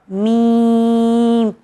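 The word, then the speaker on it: م: आइए फिर बढ़े हम नेक्स्ट लेटर की तरफ, जिसे कहा जाता है मीम। मीम, मीम। दोनों होठों को ज्वाइन करने से ये लेटर निकलता है जिसे कहा जाता है मीम।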